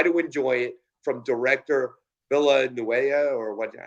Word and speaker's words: Villeneuve: mind and try to enjoy it from director Villanueva, or what? How do you pronounce it again, Kyle? I don't remember. It's French. I don't know. Villeneuve.